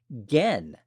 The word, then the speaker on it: Gen: And his first name is pronounced Gen.